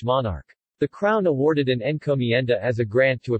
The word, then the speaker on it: encomienda: Encomienda, Spanish pronunciation, encomienda, was a Spanish labor system.